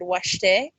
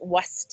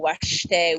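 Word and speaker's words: wašté: It was there as a type of scaffolding, but for example, students would see the word washte and they would pronounce it waste because they weren't familiar with the sh symbol.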